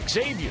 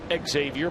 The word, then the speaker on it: Xavier: here last night that his name is actually pronounced xavier of course the folks over at xavier university they get livid and they're referred to often times by national pundits as xavier but he is xavier paul like xavier nady i just always assumed